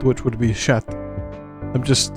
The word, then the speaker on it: chat: The French pronounce is sha. Oh, is this sha sha? Oh my my apologies. I am ill informed. They're just simply sha.